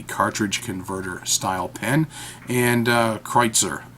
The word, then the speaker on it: Kreuzer: converter style pen and kreitzer I believe that's how it's supposed to be pronounced K R u e ze R so I'm gonna hold